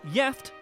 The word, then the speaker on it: gift: One Swedish word that is spelled the same as the English is gift, but is pronounced jeft and has 2 separate meanings, the first of which means married.